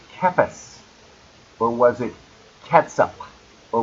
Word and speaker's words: Cephas: And by the way, don't let anybody ever tell you that's pronounced Cephas. It is not. It's Cephas. Peter was Cephas.